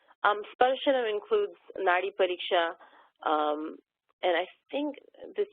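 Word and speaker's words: नाडी: read English versus Sanskrit, this word N-A-D-I is pronounced nadi in this context, nadi pariksha, which is the pulse. Without diacritical marks, when you write things out, if I didn't know that by context, it could also be read as nadi, which means a river.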